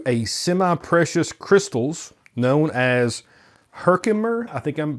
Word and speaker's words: Herkimer: which pass through a semi-precious crystals known as Herkimer. I think I'm pronouncing that correctly. Herkimer? Herkimer.